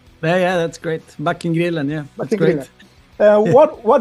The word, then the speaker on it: Backengrillen: It's the right pronounce? Yeah, that's great. Backengrillen, yeah, that's Backengrillen.